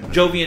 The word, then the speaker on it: Jovian: you say that jovian jovian as in like jupiter oh okay um it